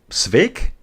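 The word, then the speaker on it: Sweeck: Sweek pronounced Sveik? How about that? Alan, how about that? Sveik. Kind of like steak, but Sveik.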